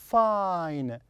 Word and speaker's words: fin: Yes, it is fin, fin. Perfect. Fin. Why? I don't have E here.